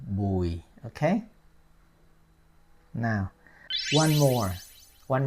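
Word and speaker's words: Bùi: Bo okay bu UI probably you will say boy well that's close now let's let's put the accent on it it have it has y it has y on it okay like the accent Mark is like descending okay slowly descending smooth so boy boy okay like boy that's the last name boy okay now one more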